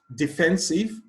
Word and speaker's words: defensive: Defensive, quality, dependable, indiscipline. Question 43. Defensive, the stress is on the second syllable.